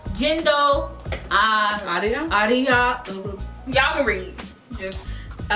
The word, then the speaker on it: Jindo Arirang: Jindo Arirang.